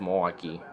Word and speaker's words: Milwaukee: It's not that way. It's just Milwaukee. It's just like Milwaukee, Wisconsin, Milwaukee, Oregon. It's just the same thing. Don't add that awful way of pronouncing it like I did.